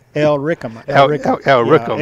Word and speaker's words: Illyricum: Illyricum. Illyricum. Yeah, Illyricum. L is pronounced in an Illyric, R-I-C.